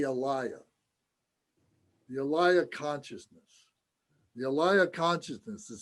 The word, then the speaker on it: alaya: this means the elia the elia consciousness the alaya consciousness is spelled a-l-a-y-a i know we've talked about this